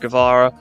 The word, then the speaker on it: Guevara: I know it's pronounced Guevara.